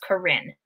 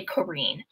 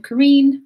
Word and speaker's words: Corinne: to pronounce that as Corinne. But it is actually Corinne. Tell us a little bit about your background. Yeah, so I'm Corinne, rhymes with green.